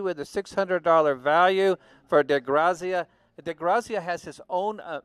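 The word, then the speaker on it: DeGrazia: It's by Edward DeGrassi. It's a signed print. De Grazia. Okay. De Grazia. Apparently we're going to pretend we're in Italy right now and pronounce it that way.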